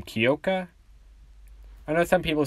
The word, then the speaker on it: Kyoka: I believe that's how you say her first name, Kyoka. I know some people say it differently, so I'm just going to say it like that, because I believe that's how it's properly said, but yeah, and Izuku said, Izuku Midoriya.